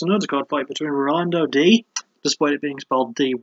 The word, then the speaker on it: Dy: roni which we thought was going to take five night it wasn't there was an undercard fight between Rondo D displayed beings Bob dy it's pronounced D against Shane young Rolando from the